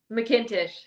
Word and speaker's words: McIntosh: How do you pronounce it again? McIntosh.